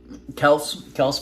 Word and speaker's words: Kelce: When I met Travis Kelce, he said Travis Kelce. He was Kelce at the time. Yes. Yeah. So he wasn't Kels.